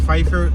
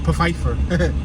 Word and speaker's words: Pfeiffer: pfeiffer we just passed pfeiffer the spell with a p which is silent you could have said popheifer but i think the p is silent all right so i